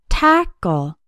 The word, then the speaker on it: tackle: tap cat and pack tackle has two syllables and the stress is on the first syllable tackle the second syllable sounds